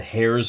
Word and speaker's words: Heirs: I'm saying and then the other side is actually not The Heirs of manicus which is how I've been pronouncing it it's or errors of Uranus which is how I'd been pronouncing it apparently it's the hairs of Uranus which is really childish